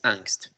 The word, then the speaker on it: Angst: estoy en ello pero va a pronunciarlo cómo se escribe que es angst sí y el primero